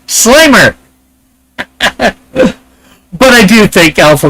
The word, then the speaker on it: Slimer: We got Alpha coming in saying Slimmer, and then Fitzchoso says Slimer. But I do think Alpha meant Slimer, not Slimmer. I don't think he realized Slimer is spelled with 1 M, not 2.